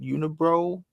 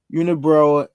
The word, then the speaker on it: Unibroue: That's how you say it, Unibroue. And here's the little statement: inspired by the stories and legends of Quebec since 1992. Let me see if I can full screen that one. Since 1992, Unibroue brews with passion, joie de vivre, and varying.